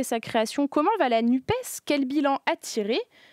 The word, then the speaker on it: NUPES: Ok, et tu prononces comment, toi? Moi, je dis NUP. NUP. Mais au bout d'1 an, il y a beaucoup de questions encore qui se posent malgré le premier anniversaire de la coalition. La prononciation en fait partie, mais c'est vrai que voilà, nous on dit NUP, en tout cas au